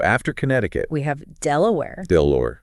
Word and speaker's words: Delaware: Connecticut we have Delaware delure delure named after Lord de la War but pronounced with that American twist all right what else